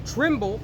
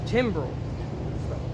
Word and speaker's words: timbrel: Let them praise his name and dance, and let them sing praises unto him with the tremble." Stop. Timbrel. Damn, bro. Slack, I butchered it. Timbrel. Okay, I got it right.